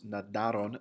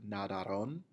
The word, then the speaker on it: nadaron: Mis hermanos nadaron en el mar. Many times students will pronounce this word nadaron. You need to make sure that you're putting the emphasis on the second A, nadaron.